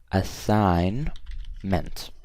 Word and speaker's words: assignment: for you guys but assignment has a silent G so I'm gonna say a sign meant okay this one's correct